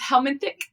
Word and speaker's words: helminthic: So it's helmanthick therapy, but we're using helmets for it.